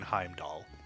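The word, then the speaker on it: Heimdallr: so trist context you do not pronounce the r in Heim doll um it helps Kyer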